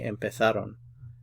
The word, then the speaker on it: empezaron: If you're speaking to people in Spain, they'll pronounce this a little differently. They'll say empezaron.